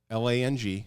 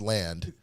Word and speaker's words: Lang: she no that was Cory mispronouncing Lang as land j j u n